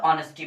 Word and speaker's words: honesty: इसमें हम लोग क्या होता है, ऑनेस्टी और डिसऑनेस्टी में H जो है साइलेंट होता है, इसलिए हम लोग ऑनेस्टी पढ़ते हैं।